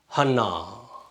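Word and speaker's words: חַנָּה: இதற்கு ஹே வார்த்தையின் இறுதியில் வந்தால் அதற்கு பெரிய அந்த உச்சரிப்பு இருக்காது. Silent letter. இங்கே இந்த பட்டா எனக்குரிய ஒரு குரில் போல ஒலிக்கும். ஹ இன் நா. ஹன்னா. நாம் பார்த்திருப்போம், அண்ணா என்ற பெயர் தான் அது.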